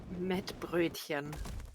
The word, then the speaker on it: Mettbrötchen: How do you pronounce it? Mettbrötchen.